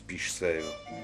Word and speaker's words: Piche-Chèvre: Les habitants de la région prononcent Piche-Sèvre.